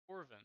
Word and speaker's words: Corvin: No, you said Corvin. it right. Yeah, Corvin. Said it right. Corvin.